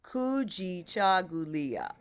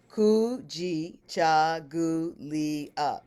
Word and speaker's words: kujichagulia: Okay, the second principle is kujichagulia. Kujichagulia. That's 7 syllables. Kujichagulia. But we kind of make it 8 because ku is ku'u, right? Kujichagulia. So it's still 7.